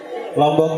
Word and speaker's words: Lombok: sebelumnya lombok itu ya lombok itu sering dipahami bahwa lombok itu artinya cabe padahal bukan itu maksudnya jadi lombok itu dari bahasa asak lombokah Lombok pengucapannya Lombok tapi kan tertulisnya lombokah Apa arti lombok lombok